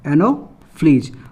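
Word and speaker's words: Anopheles: देखिए मादा, इसको भी लोग बहुत कोई गलत प्रोनाउंस करते हैं। देखो फ्लीज, क्या है? Fleas, एनोफ्लीज।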